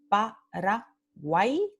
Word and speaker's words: Paraguay: Como por ejemplo, la palabra Paraguay, Paraguay. Entonces, aquí tenemos el triptongo guay, ¿sí? Y vemos la transcripción fonémica aquí, Paraguay, pero en la transcripción fonética vemos que salen las dos vocales que son semivocales.